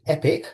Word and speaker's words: EPCC: We like to call it pronounce it epic because it's an epic organization.